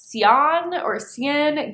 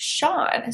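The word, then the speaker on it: Sian: I believe I pronounced that Cian Gilbert, but it's actually an Irish name pronounced Sean. So Sean Gilbert's new thriller, She Started It, is about a bachelorette trip gone wrong in the Bahamas.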